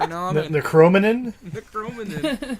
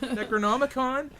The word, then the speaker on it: Necronomicon: And the kid references Evil Dead, but he can't even properly pronounce Necronomicon. Necronomicon. Because he's like, is that a Necronomicon? Or something like that. Necromanin? Necronomicon?